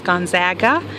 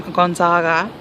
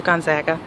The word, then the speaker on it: Gonzaga: The proper pronunciation in Spokane and for the university is Gonzaga, as opposed to the Italian pronunciation of the name Gonzaga. So there's a big mix-up, especially with the East Coast sportscasters that refer to it as Gonzaga as opposed to Gonzaga.